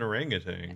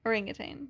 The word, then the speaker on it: orangutan: you say it again gargantuan why is it spelled like that because it's not garanga tang goringa tang what's the monkey it's an orangutan okay orangutan that's what i was thinking of great jarangan